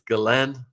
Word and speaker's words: Ghislaine: It's Ghislaine, almost like Glenn. It's French.